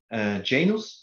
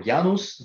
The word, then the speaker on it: Janus: used to work with the Janus or yanos depends on the pronunciation in your country uh that's allow you